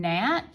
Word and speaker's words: gnat: We know that it says N, but this is a ghost digraph, so we need G-N, N, N, at, a, t, t, t, N, at, net.